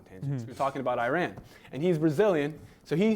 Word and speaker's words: Iran: It's Iran. Okay, that's how you pronounce it.